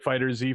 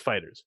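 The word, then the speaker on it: FighterZ: And I was calling it Fighter Z for a while, but then I saw a video where the developers of the game actually said like it's pronounced Fighters.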